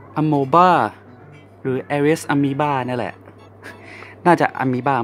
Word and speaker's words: Amoeba: Nonny นะครับที่เห็นเนี่ยเป็นอุปกรณ์ที่ผมใช้ลงสนามบ่อยที่สุดเรามาดูที่ปืนกันนะครับปืนเนี่ยจะเป็นยี่ห้อ Aries Amoeba หรือ Aries Amoeba นี่แหละน่าจะ Amoeba มากกว่านะเพราะว่ามันสะกดด้วยคำว่า AMOEBA Amoeba ใช่ Amoeba จะแปลว่าเชื้อโรคนะก็เป็นปืนนี้เป็น Amoeba รหัส AM013